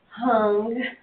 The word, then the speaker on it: Hung: Yes, Yeah, tell me, see tell me there, how you pronounce that? Hung, Hung.